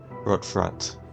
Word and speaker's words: Rot Front: Rot front, not front.